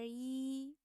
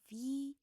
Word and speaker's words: 一: But when we read them together, the first tone of yi need to be changed to fourth tone.